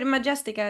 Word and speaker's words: Majestica: to pronounce the name of the No, band. you said it right. Majestica is the band.